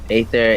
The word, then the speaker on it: Aether: In Greek mythology, Aether, ancient god, pronounced Aether, is the personification of the bright upper sky.